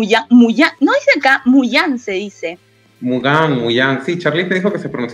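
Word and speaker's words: Mougins: Está el, ¿cómo es el equipo Mugins? ¿Cuál es la pronunciación? Mugán.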